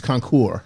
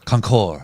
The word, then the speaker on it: Concours: their annual Concours d'Elegance. I still don't know exactly how to say Concours d'Elegance. that. Yeah, but I don't say the S. No one ever says the S. Elegant. It's Concours. Concours.